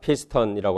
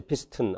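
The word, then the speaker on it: piston: 2번에 자음이 두 개 앞에 나오면 슈아를 넣어줘서 실라빅 네이절이 안 된다. 피스턴이라고 하지. 피스튼 안 그러고요. 링컨 이렇게 슈아 있는 발음으로 해줍니다.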